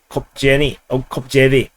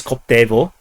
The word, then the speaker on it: Koptevo: MiG-29 shot down over Kopjevy. Actually, it's Koptevo, and but somehow the Ukrainians spelled it in some kind of a wonky, magical way, and it makes it impossible to pronounce in English.